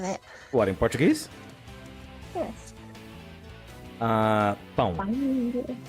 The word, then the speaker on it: pão: Pão. Pão. Pão. Not pan. Pão. No. Yeah, pão.